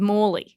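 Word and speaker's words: Mally: gift it name is moley Moley it's spelled m but it's moley Moley okay entering into evidence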